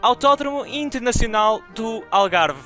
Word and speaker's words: Autódromo Internacional do Algarve: People say Algarve International Circuit and you should say Autódromo Internacional do Algarve. And the name of the race is Grande Prémio de Portugal.